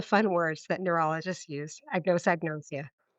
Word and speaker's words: anosognosia: And can you pronounce the term that's used for that lack of insight? Sure. Anosognosia. Yes. All the fun words that neurologists use. Anosognosia.